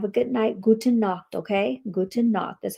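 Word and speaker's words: Gute Nacht: Guten knock.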